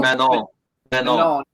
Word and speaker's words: Manon: I don't know how you pronounce it. Mignon. Manon.